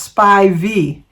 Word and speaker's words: Spivey: s p i v e y but it's pronounced spy V thank you Sharon happy birthday to you happy